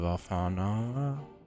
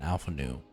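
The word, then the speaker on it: Alphinaud: bringing me news of alfana Alpha no the D is silent Alpha new there's fee his fate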